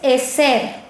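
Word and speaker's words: עזר: En hebreo, vemos que la raíz hebrea de ayuda es eser. ¿Cómo es? Eser. Se escribe E-Z-E-R.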